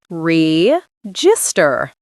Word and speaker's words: register: Register. Stress the first.